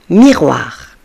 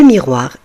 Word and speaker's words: miroir: Vous voyez ici, les amis, les lettres O et I vont former le son OA.